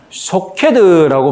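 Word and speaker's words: שׁוֹקֵד: 히브리어로 살구나무라는 말과 지킨다는 말의 음이 비슷하다. 그래서 살구나무는 사케드라고 히브리어로 발음하고 지키다는 소케드라고 말하거든요.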